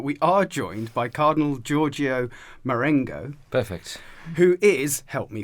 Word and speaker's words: Giorgio Marengo: And I have to say, I'm going to question my pronunciation here, but we are joined by Cardinal Giorgio Marengo.